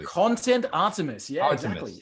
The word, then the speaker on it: Artemis: Content Artemis. Yeah, exactly. Artemis.